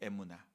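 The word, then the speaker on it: אמונה: 뜻인가 찾아봤습니다 히브리어 발음으로는 에나는 거예요 에무나 그런데이 단어가 쓰여진 장소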